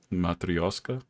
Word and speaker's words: Matryoshka: How do you say that? Matryoshka. It's Russian.